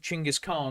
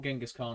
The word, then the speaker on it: Chinggis Khan: But we're going to start off with Chinggis Khan or Genghis Khan, as people will get mad at me as we talk about this, because I pronounce it correctly as I've been instructed to, rather than the anglicization.